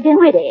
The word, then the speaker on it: Dinwiddie: Henrietta Dinwiddie. Yes. With an N, not an M, and the accent on the witty, not on the din.